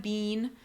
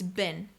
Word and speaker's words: been: quick tip for you watch your pronunciation you know you see that bin a lot of a lot of students I hear say they make the e sound like in cheese it's not being it's been it said shortened it